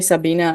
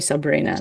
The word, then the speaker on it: Sabina: last name is fine as long as you call me Sabina I'm I'm cool just don't call me Sabrina that's that's all I'm